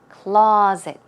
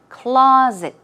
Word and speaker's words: closet: is pronounced it's clait closet okay stress goes on the first syllable and it's more of a z z z sound closet closet and what about monster